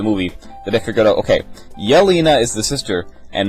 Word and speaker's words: Yelena: hour of the movie that i forgot okay yelina is the sister and malina is is the the mom and that's how you pronounce them and then anatali and anatoly and